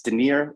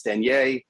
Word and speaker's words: Denier: i go it's fine it's de nir in the u.s when i go to europe it's daniel it changes okay well we're in